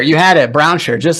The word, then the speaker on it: Brownsher: show with me Brown Browner what do pronounce it for me Browner you had it Browner just like it's spelled Browner Brown R you